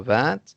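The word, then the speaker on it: vingt: consonne, alors on ne prononce pas le T à la fin du mot 20 et on dit il y a 20 choses.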